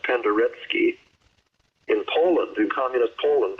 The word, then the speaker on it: Penderecki: Paul Glass was a student of Krzysztof, I'm going to say it the wrong way, Penderecki is how it's spelled, pronounced Penderecki.